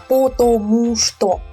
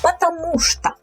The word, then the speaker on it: потому что: Потому что, here we have unstressed O's. So the stress falls on U here, потому что. So when we say it quickly, we reduce these O's. So we don't say потому что.